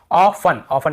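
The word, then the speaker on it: often: ऑफन यहाँ पर भी टी, ऑफ्टन लिस्टन नहीं पढ़ रहे, ठीक है।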